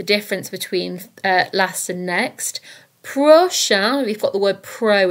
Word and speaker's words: prochain: Prochain and prochaine both mean next, so be careful here because there is a difference in the pronunciation. Prochain, prochaine. Dernier, dernière.